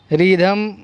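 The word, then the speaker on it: rhythm: रिदम, क्या पढ़ेंगे इसको, रिदम। School, watt, weather, while, white, our, वाई। तो इन तमाम वर्ड्स के अंदर एच की आवाज़ जो है वो साइलेंट है।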